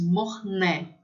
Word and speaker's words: Mornay: A Y ou A Y fica E. Sauce mornay, mornay.